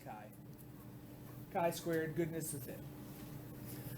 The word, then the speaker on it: chi: it's spelled CH hii so it's spelled like Chi all right but it's pronounced Kai Kai squar goodness with